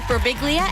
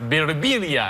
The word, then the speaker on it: Birbiglia: It's been, people come up to me, they say, in Italy it's pronounced Birbiglia, and I say, in America, you're annoying. You're right. We just say it wrong.